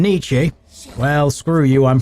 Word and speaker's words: Nietzsche: The E is not pronounced in Nietzsche.